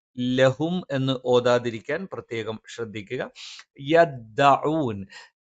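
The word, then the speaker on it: يَدَّعُونَ: യദ്ദഊൻ ത ഉച്ചരിക്കുന്ന സമയത്ത് പല ആളുകളും യദ്ദ എന്ന് പറഞ്ഞിട്ട് ഈ കാറ്റ് പുറത്തേക്ക് വരുന്ന ഒരു രീതിയിൽ ഉച്ചരിക്കാറുണ്ട്. അത് ശരിയായ ഉച്ചാരണമല്ല. കാറ്റ് വരാതെ യദ്ദ എന്ന് ഉച്ചരിക്കണം. ലഹും ഫീഹാ ഫാകിഹത്തുൻ വലഹും മാ യദ്ദഊൻ. യദ്ദഊൻ അല്ലാതെ യദ്ദ എന്ന് കാറ്റ് വരുന്ന രീതിയിൽ ഉച്ചരിക്കാൻ പാടില്ലാത്തതാണ്. സലാമുൻ ഖൗലൻ മിർ റബ്ബിർ റഹീം.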